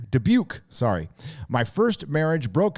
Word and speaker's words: Dubuque: uh debut de beaux how do you say this dubo iowa dubuque dubuque sorry my first marriage